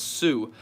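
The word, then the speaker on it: Tsū: link in my description it's called tsu it's pronounced sue if you guys want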